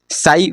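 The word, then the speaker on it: ψ: ये सिंबल क्या है साई ए प एस आई पी साइलेंट है तो उसको बोलेंगे साई यह तो क्या इक्वेशन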